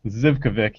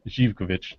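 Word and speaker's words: Živković: It's not pronounced Zivkovic, even though it's spelled with a Z. It's Zivkovic.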